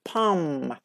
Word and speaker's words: palm: PA L M but as I told you l like comes after a and we don't pronounce like pum pum that's it that's great